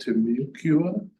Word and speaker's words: Timucua: I don't know if I'm pronouncing it correctly, but apparently at Contact, there was a community called Timucua.